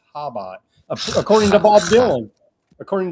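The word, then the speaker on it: Chabad: Uh because I always thought it was Chubot, but turns out C's silent there.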